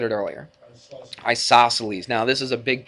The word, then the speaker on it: isosceles: So, but anyway, she spells her name C-E-L, and it sounds like an S though, doesn't it? Celine. So, Isos, what? Celes. C-E-L-E-S. Isos, Celes.